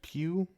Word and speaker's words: Pugh: Man, it is pronounced Pugh.